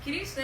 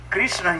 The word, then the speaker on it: Krishna: Krishna, here two syllables are there. Kri and Sna. Kri means to attract. Nasya nivritti vachaka prema dadati iti Krishna.